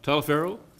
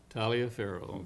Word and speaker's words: Taliaferro: Lloyd Eugene, and I'm afraid I'm going to mess this one up, Talaferro. Mr. Talaferro? Not here? Oh, Mrs. Talaferro, okay. Did I pronounce that right? Taliaferro, okay.